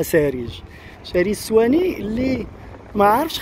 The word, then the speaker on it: صهريج: واحد الاخ قال لي كتقول شريج، خاصني نقول سهريج سهريج السواني. لحقاش والفنان قولوا ساريج، واخا دابا في الكتابه كنكتبها سهريج ولكن في النطق تنطقها ساريج.